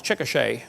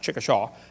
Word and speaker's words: Chickasha: 2005 textbook, and I pronounced it wrong as Chickasha, not Chickashaw, Chickasha, Oklahoma. I got corrected during the break.